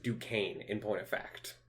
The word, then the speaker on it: Duquesne: And yes, that word is pronounced Duquesne in point of fact. Duquesne. Mm-hmm. I hate that. It's very French.